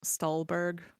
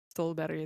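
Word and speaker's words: Ståhlberg: Uh yeah, and also the name would probably be pronounced in English as Stalberg by the way. Uh just as a as a thing because Stalbury is very different than Stalberg.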